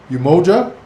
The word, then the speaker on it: Umoja: This is the Umoja Caribbean Union. Am I pronouncing that correctly?